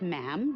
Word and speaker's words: ma'am: For instance, when you're addressing the Queen, she is Her Majesty, and after that, it's just ma'am, rhymes with jam, and it's always a curtsy, especially in public.